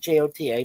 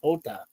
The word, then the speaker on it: Jota: His name is Diogo Jota, but he spells it Jota, but it's pronounced Jota.